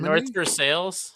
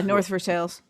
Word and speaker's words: North Versailles: There is a very like French named town in the vicinity of Pittsburgh that is not pronounced correctly. oh, yeah. What, North Versailles? Yes. Yeah, North Versailles.